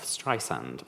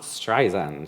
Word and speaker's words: Streisand: is the pronunciation of Streisand, like sand on the beach. It's not Streisand, she often says, my friend Liza has a Z.